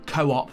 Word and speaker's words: Co-op: Asda, Morrison's, Co-op, Tesco, to name a few. Is that how you actually pronounce it? I always just say coupe. That's how you say it in Sweden.